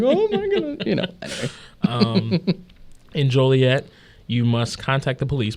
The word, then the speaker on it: Joliet: Town fathers in Joliet reflecting the pet peeve of hearing their town's name mispronounced Joliet. Oh, Jolly. Yeah. I see that now. Joliet.